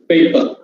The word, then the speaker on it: paper: this paper paper paper and the last syllable r is unstressed in english r at the end is always silent unstressed paper okay next word five